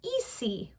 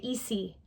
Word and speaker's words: easy: to sound it out, you might say the word easy with an S sound because it's spelled with an S. But when Americans say that word, they would never say easy. They say easy because that S sounds like a Z.